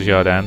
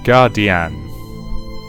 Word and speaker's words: Jardin: Or is that meant to be pronounced Guardian? Yeah, screw it. I'm going to keep pronouncing it as Jardin because I happen to think that sounds better.